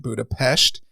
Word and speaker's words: Budapest: know was born in Budapest Hungary that's right pronunciation Budapest when I was serving as a missionary and